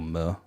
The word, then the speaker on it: MØ: And quickly on her name, Mo, or Mo, as it's pronounced in Danish, is just obviously her initials, like her middle name's Marie.